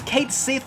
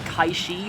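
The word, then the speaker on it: Cait Sith: they spam that because kate sith or how do you how you pronounce it like kaishi or something um because it's scottish uh or celtic at least but uh because he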